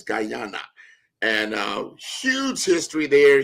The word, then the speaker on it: Guyana: I'm going to say my perfect pronunciation is Gana. So there's a big Gana there. So it's not Ghana, it's Guyana.